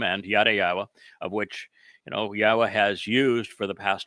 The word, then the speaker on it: Yahweh: and hashtag YadaYahowah, hashtag even Yahweh, which is the proper pronunciation that I introduced of Yahweh's name, to disparage me, everyone